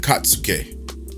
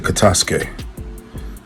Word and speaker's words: Katasuke: confusion of Amado and Katsuki. I don't know how to pronounce it. Correct me in the comments if I pronounced it incorrectly. Sorry guys, I meant to say Katasuke.